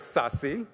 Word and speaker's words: SASE: published a paper titled sassy that's how you pronounce this SASE secure access services edge